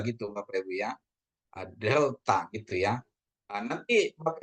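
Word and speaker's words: δέλτα: Terus ada delta. Delta itu ee dia lebih ke DH bukan D tapi dia ya Bapak Ibu ya.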